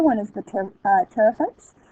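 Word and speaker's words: pteridophytes: is the ter uh terapets that pee is silent just like in terod uh the terites are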